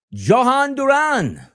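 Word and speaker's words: Jhoan Duran: Philadelphia Phillies picking up Johan Duran.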